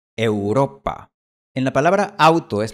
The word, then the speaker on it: Europa: No es Europa y no es Europa, es Europa.